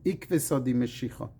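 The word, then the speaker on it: עקבתא דמשיחא: Indeed, our regeneration is referred to in Aramaic as ikveta di meshicha, or in Ashkenazi pronunciation, ikvesa di meshicha.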